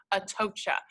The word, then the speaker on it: Atocha: 17th century Spanish ship at OSHA a love that we have that phonetic spelling there so I'm pronouncing this Spanish word correctly before locating it in